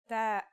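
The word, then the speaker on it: ث: our final letter is that's like the th in the English word Thief pretty easy right that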